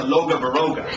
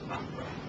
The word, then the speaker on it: Loughborough: The American tourist said, gee, I gotta get to Loga Baroga. Now clearly the poor tourist was going to struggle, and he had not worked out that the local pronunciation was Loughborough.